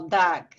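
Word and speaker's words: דג: En el hebreo, el texto pronuncia como dag, ¿no?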